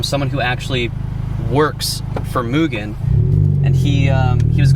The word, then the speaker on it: Mugen: moogan yeah i'll see i was gonna say negan yeah it's mugen there's a video a lot of people used to call it mugen a lot of people